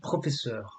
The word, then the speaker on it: professeur: es professeur. And remember the EUR is like heure.